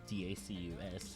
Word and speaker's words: Dacus: And in March 2019, they toured with Lucy Dacus. I don't know how to pronounce that. And there's no R in that. It's Dacus.